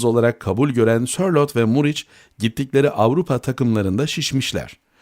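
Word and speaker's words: Muriqi: kabul gören serlot ve murich gittikleri Avrupa takımların şişmiş bu muri ne hikmetse muriki yazılır ve fakat bizim futbol allamel eri tarafından muric okunur MKE Ankaragücü'nün bastır Ankaragücü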